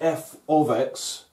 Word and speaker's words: f(x): see when you do this topic uh it's pronounced f of x and sometimes you'll get a question and there'll